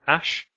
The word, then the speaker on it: ash: And you have this final letter here, which is an sound, It's called ash.